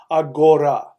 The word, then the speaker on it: Aghora: Aghora is spelled A-G-H-O-R-I. Aghori. Aghora.